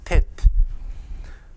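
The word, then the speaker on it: טית: 텟. 텟 이렇게 표기하셔도 되고 텟라고 읽으시면 됩니다.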